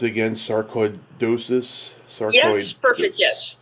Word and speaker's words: sarcoidosis: So going back to this disease you struggle with, how do you pronounce it again? Sarcoidosis?